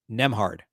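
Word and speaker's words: Nembhard: um but let's see nem hard that was close actually I think I had it right I just pronounced the B so it's a silent B andrewhard um he uh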